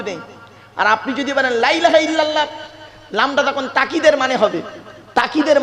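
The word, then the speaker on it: لا إله إلا الله: লা ইলাহা ইল্লাল্লাহর জায়গায় তাড়াহুড়ো করে কি বলি জানেন? লা ইলাহা ইল্লাল্লাহ। লাই্লাহ। লাই্লা ইল্লাল্লাহ।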